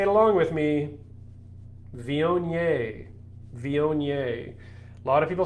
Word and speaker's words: Viognier: and so you know it looks like it's pronounced um viogner uh or wagner as some people very uh deliberately proclaimed but but it is vionier vionier and it is a grape that quite frankly